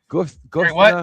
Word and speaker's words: Guthrie: Guthrie.